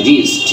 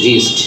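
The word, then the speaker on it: wrist: ইউ এটাকে উচ্চারণটা আমরা এই ডবল ইউটাকে আমরা অমিট করে দিচ্ছি অমিট ওয়ার্ড স্পিকিং সালাড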